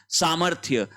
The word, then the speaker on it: सामर्थ्य: के ऊपर चला जाएगा सामर्थ्य ध्यान रहे इस र का उच्चारण इस थ से पहले होगा क्लियर है फिर देखिए द्वंद द्वंद द्वंद द्वंद द्वंद्व होता है।